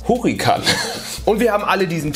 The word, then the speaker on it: Hurrikan: Die heißt Wie spricht man Hurricane auf Deutsch aus? Hurrikan.